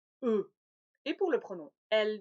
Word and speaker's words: eux: prononcés nixey peu e le x ne se prononcent pas eux et pour le pronom